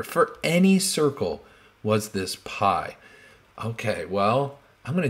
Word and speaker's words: pi: it's called pi okay so it's p i's how you spell it p i and it's pi it's a greek letter